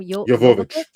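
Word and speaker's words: Jovovich: Yovich.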